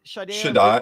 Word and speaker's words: Shaddai: How you pronounce it? Shaddai.